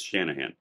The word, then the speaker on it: Shanahan: me was placed by Nicole shannan Shan Shanahan whatever RFK Jr's previous vice president I can never miss say her name right I think it's Shanahan um it's all about Trump